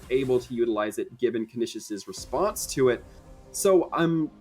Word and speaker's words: Canisius: all due respect uh i know it is spelled exactly like you're pronouncing it uh i i will 100 agree with you but it is canisius i have been informed many a time over the past season not like that everybody wants their name pronounced correctly right fair enough they're paired